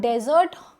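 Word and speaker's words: desert: नाउ डेजर्ट इसका pronunciation है डेजर्ट। बट अगर यह double S ई आर टी होता खाने वाला मीठा तो ये क्या हो जाता? डेजर्ट।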